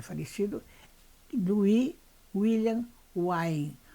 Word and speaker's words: Wain: Lui era porque ele é falecido Lui William wne w se escreve w a e n bom rapidamente de